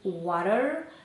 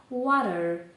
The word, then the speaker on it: water: В Америці скажуть: «water», тобто буква «t» в нас вимовляється як наша українська «р», тільки язик дотикається до піднебіння тільки один раз: «water» і в Британії скажуть: «water».